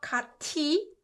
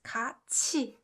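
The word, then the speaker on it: 같이: so katji it's not cut tea it's not cut tea guys it's kachi kachi means together together let's go together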